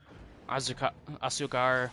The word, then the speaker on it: azúcar: I know Z is, because azúcar is sugar, and it has a Z, which is pronounced like an S, which kind of throws